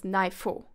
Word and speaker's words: ne aifo: Ne, as well as se and me actually, if together with I, then are pronounced as nai, sai, or mai. So for example, aifo is they, then ne aifo actually is pronounced as naifo. Important, this is not written. So it's still written as ne aifo, but you would say naifo when reading it.